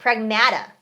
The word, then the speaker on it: Pragmata: can't pronounce the name of this game. It's Pragmata.